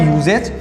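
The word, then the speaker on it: usage: यू एक vowel है, लेकिन जब इसका हमने प्रोनाउंसिएशन किया, इसको जब हमने पढ़ा, तो इसका साउंड क्या हुआ, यूजेज, यानी या आ रहा है।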